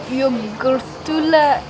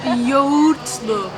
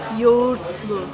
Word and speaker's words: Yoğurtlu: So I know this is probably gonna be wrong, but yogurtlu kebab. Yes, almost. Yoğurtlu. Yoğurtlu. Yoğurtlu Yes, kebab. yoğurtlu kebab. Yes. So you don't pronounce the G. You barely pronounce the G.